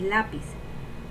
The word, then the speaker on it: lápiz: Tenemos lápiz. Vamos a separarlo primero. La-piz. ¿Y cuál es la sílaba tónica? La, porque es la más fuerte y tiene acento.